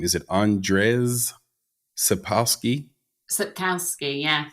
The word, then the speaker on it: Sapkowski: Is based on the popular fantasy saga by, how do you pronounce this author's name? Is it Andrzej Sapkowski? Sapkowski, yeah. Sapkowski, thank you.